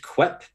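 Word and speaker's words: quaich: Um, there was one six, which is qui. Um, that is the pronunciation. I thought it was qu. It's Q U A I C H. It's from Scottish English.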